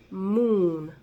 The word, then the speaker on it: moon: Ustedes dirán, ¿por qué si esto se dice se pronuncia moon como U?